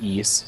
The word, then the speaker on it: Ys: 80s uh so the East series it's Ys but it's pronounced East so kind of like geese or flee uh it's basically the